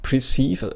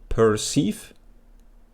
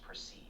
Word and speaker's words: perceive: Uh, it's not preceive. I I misspelled it actually. I don't pronounce it very well. So, I I used to say preceive, but it's actually perceive.